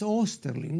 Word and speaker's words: Osterling: Felipe osterling eh yo al pronunciar el apellido me acomodo al uso imperante aquí en el Perú no pero eh En realidad es osterling no porque ustedes recordarán